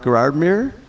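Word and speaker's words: Gérardmer: Is it pronounced Gerardmer?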